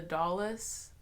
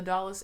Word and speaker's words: Dulles: that Airport before but it's like do you ll es I think but people say it like Dallas Airport so I was very